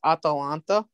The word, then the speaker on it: Atalanta: And one of the teams that like I'll tip the hat off to, it's similar to Atlanta, but it's Atalanta. It's spelled the same, only with like an extra A.